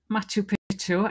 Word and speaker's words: Machu Picchu: So it is Machu Picchu, and that's what the whole reading is about today. Let's have a look at the title again, Keith. Yes. Machu Picchu in Peru, the lost city.